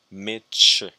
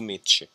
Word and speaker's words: meet you: When you is after the T, this is pronounced, you is pronounced ch, meet ch. It's nice to meet you.